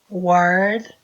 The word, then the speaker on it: wired: fosse um Z, is wired, lembra que eu falei que esse E não pronuncia?